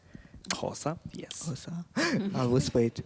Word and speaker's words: Xhosa: Xhosa, yes.